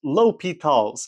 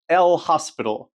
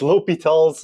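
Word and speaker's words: L'Hôpital: Uh it's pronounced LLS, not L hospital. Don't be a math degenerate and pronounce things reared on purpose. It's remon, not Ryman. It's Oiler, not Uler. And it's it's Li Talls.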